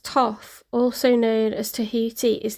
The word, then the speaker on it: Thoth: Oh, Thoth pronounced Toth, also known as Tahiti,